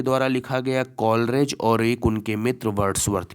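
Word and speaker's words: Coleridge: Lyrical ballad जो था वो यहाँ कॉलेज नहीं होगा, यहाँ कॉलरेज होगा।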